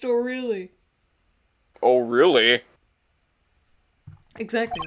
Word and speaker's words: Orly: It's Orly! It's O'Reilly! That's the whole joke, is that her name is actually pronounced O'Reilly.